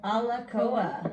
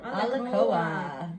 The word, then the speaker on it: Alakoa: Alakoa. Alakoa. The spirit of the warrior. Oh wow, look, that's also the one on the back of the book. Yippee. Huh? Special, what number is it? 34. 34. Alakoa.